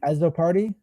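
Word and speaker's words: Azzopardi: cannot yeah so for the pronunciation guide is a z z o p a r d i so um yeah that that that's how we pronounce that one yeah yeah um but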